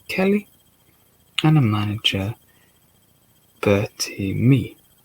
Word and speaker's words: Mee: Substitution of Eddie Kelly and a manager Bertie Mee. Like me, spelled with M-E-E, says me.